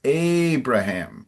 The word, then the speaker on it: Abraham: Your pronunciation of of the the main man is a little more Portuguese than English. I think is it Abra? It's Abraham in English. A big open A.